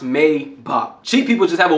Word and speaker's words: Maybach: It is not pronounced Maybach, it is pronounced Maybach.